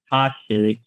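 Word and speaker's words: Tosches: City, where it is taken by author Nick Koshik, that's how you pronounce that, after he's asked to verify its authenticity.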